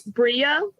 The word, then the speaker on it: Brea: It's Brea, like Brea. rhymes with Maria. Got it, Brea.